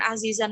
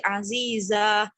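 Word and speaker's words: عزيزة: Nah, ketika azizan ini berada dalam akhir ayat, maka kita membacanya bukan azizan lagi, tapi azizah dengan harokat dengan ketentuan panjang 2 harokat.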